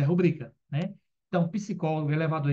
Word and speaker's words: rubrica: certo mas tá errada muita gente fala rúbrica mas é rubrica né então psicólogo elevador